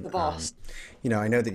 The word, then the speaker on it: DeVos: DeVos. You know, I know that you guys were the, what is it? DeVos? Betsy DeVos, I think.